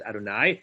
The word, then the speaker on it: Adonai: the notion that that Jews pronounce that word as Adonai and of course that